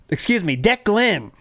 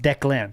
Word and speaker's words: Declan: We have Deck Glenn says, ALT, I know you grew up learning Middle English, but in the present day, it's pronounced Declan.